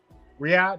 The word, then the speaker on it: Riyadh: Riyadh.